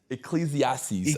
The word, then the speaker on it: Ecclesiastes: I'm reading, I don't know how to pronounce it. It's the one with the Ecclesiastes. What is it, what is it, Terry? Ecclesiastes.